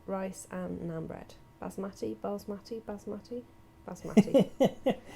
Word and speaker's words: basmati: Basmati.